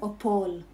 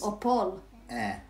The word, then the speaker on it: Opole: Opol. Opol. There's Opol. Eh, at the end. Opole. Yes. Opole, exactly. Elk.